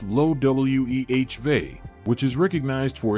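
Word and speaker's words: Loewe: are familiar with the high-end fashion company Loy pronounced low we V which is recognized for its humorous luxury attire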